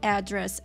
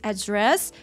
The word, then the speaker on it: address: Очень важно правильно ставить здесь ударение, потому что по-русски мы говорим адрес, и многие допускают ошибку и говорят address, address. Правильно, ударение на второй слог. This address, 5 a.m., 5 часов утра.